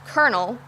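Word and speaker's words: colonel: would have thought that the word spelled colonal is pronounced kernel epitome is pronounced epitome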